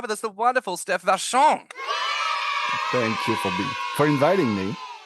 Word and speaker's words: Vachon: Is it pronounced Vachon? Vachon? How do you pronounce your surname? Vachon.